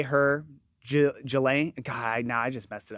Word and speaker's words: Ghislaine: It's G. The H is silent. Ghislaine. And the S is silent too.